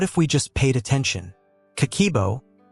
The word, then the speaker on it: Kakeibo: Kakeibo, pronounced kah-keh-ee-eh-boh, means household financial ledger in Japanese.